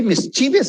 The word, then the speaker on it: mischievous: He's a very mischievous boy.